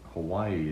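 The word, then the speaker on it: Hawaiʻi: hawaiian letter um and it symbolizes a guttural stop so hawaii is now pronounced why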